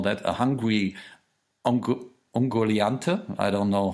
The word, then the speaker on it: Ungoliant: A hungry Ungoliante. I don't know how you would. Ungoliant. How do you say it? Ungoliant or Ungoliante. Ungoliant, okay. We would say Ungoliante. But Ungoliant would do too.